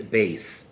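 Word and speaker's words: בית: Sort of, in the English language, that would be the equivalent of A. The second letter is Beis, or in the Sephardic pronunciation, Bet.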